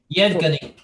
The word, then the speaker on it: Yevgeny: How do you pronounce it? Yevgeny.